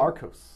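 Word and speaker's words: Archos: Arcos.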